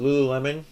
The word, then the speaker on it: Lululemon: and is the Lululemon, or how do you pronounce it? Lululemon.